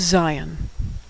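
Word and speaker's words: זין: Next is zion. Now, the name of this letter sounds just like the English word Zion, which is a name for Israel, but that's just a coincidence.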